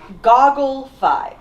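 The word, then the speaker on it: Goggle V: Dai Sentai Goggle 5. I know it's pronounced Goggle.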